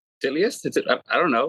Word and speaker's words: Titleist: The shit, bro, it took me forever, like, to learn the proper way of pronouncing Titleist. It was like, Titleist?